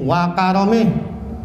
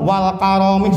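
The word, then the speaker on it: وكرمه: Buat kalau kita mimpin tahlil tuh ujungnya birahmatillahi wa karomih, pendek bacanya, jangan wa karomih, salah tuh. Atau wal karomih, salah 2 lagi. Udah ada mudhof ilaih dibaca alif lam lagi. Jadi yang betul birahmatillahi wa karomih, enteng.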